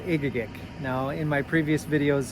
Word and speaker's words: Egegik: As it's spelled, I would tell everybody that it's pronounced Egegik because it was a lot easier for my family and friends to be able to pronounce that. But the actual pronunciation is in red, Egegik.